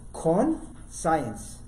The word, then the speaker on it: conscience: they knew about evil that word conscience Marva just mentioned I love what he just said two syllables corn science you know what Khan